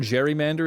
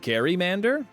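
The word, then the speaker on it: gerrymander: Um, and the word Jerrymander is named after a man with the last name Jerry with the hard G sound. Uh, yet everyone pronounces Oh, Gary Mander.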